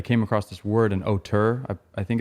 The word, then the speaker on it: auteur: And I came across this word, an auteur. I think it's pronounced auteur.